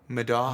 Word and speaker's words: Middaugh: I say Middaugh, but it's Middaugh. Middaugh.